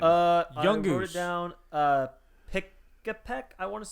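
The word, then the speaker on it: Pikipek: Pikapek, I want to say is how you pronounce that.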